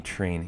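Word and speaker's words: Trian: Train.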